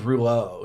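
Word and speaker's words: Rouleau: My My last name is Ruo. It's spelled R O U L E AU. It's a French name, which my very So fast forward weak weak Frenchman.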